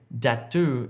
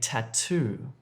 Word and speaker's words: tattoo: Don't say datu if you're trying to say tattoo. Datu, tattoo.